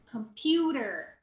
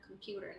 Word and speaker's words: computer: comfortable it's comfortable Okay computer the T is like a rolling te it's not a hard te it's not computer computer like the water all right there and